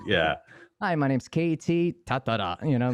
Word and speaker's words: Tatara: You know, in Japanese, it's kind of all the syllables are even, so it's like Tatara, so it's like Tatara would be Tatara.